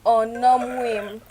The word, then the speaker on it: Onomwem: Before I answer, my name is Onomwem, so I have pronounced it well so that you can pronounce it also.